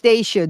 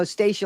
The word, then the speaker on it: Staca: people um it's pronounced Staca just so you know Staca like is Staca's name she